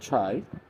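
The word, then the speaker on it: try: থাকবে না, তখন সেক্ষেত্রে এই ওয়াই এর জন্য উচ্চারণ হবে আকার যোগ রস্যই। এটা খুব গুরুত্বপূর্ণ একটি ওয়ার্ড। যেমন টি আর ওয়াই, ট্রাই, ফ্রাই, মাই, ক্রাই, shy, Thai, by.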